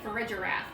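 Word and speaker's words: Girafarig: keep hearing more people saying for a giraffe and I hate it because it sounds like refrigerator my giraffe is not a refrigerator but it is technically the pronunciation that seems to be winning out so yeah I'm gonna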